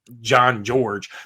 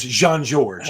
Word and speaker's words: Jean Georges: It's probably John George, but it's Jean Georges, you know, very French.